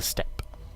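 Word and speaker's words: Steppe: or rather it's actually I probably shouldn't say the e at the end I presume it's probably a silent e e so it's the step Spearman but feel free to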